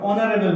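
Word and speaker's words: honourable: লিখছি an hour কি লিখবো এন আওয়ার এবার অনারেবল নেন অনার এইচ ও এন ও ইউ আর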